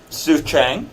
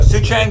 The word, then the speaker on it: Soucheng: in just so I know this is some sooth Chang yeah and sapota it's a bother well thank you for correcting my bad pronunciation so soo-chang tell us about yourself what you do and